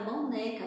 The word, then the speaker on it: boneca: Qual foi a palavra, a sílaba que foi a mais forte? A que se estendeu, que se prolongou? Isso mesmo, neca.